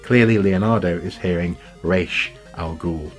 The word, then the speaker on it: Ra's al Ghul: a comic book fan how it should be pronounced clearly Leonardo is hearing resh al Ghul not Ra's al Ghul so nice little sort of offshoots little sparks